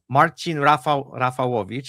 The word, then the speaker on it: Marcin Rafalowicz: I'm going to say it in Polish because we both from Poland. That's our background, and we can say it properly. We have a very short discussion right before about how to properly say the names, but I decided we're going to go with the full Polish pronunciation.